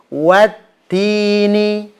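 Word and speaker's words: وَالتِّينِ: Baik, Anda contohkan Wat-tini. Jadi wawnya jangan diserempet. Biasanya adalah ketika membaca huruf waw biasanya beberapa orang bacanya itu nyerempet. Jadi gini. wa itu kan nyerempet. Wattini.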